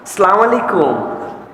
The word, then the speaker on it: সালামু আলাইকুম: আর সালামের বিশুদ্ধ উচ্চারণটাও শিখে নাও। সালামু আলাইকুম। সুন্দর না শুনতে?